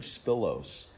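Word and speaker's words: σπίλος: it's the Greek word spilos. Spilos is how it's pronounced in the Greek, but it's literally means a stain.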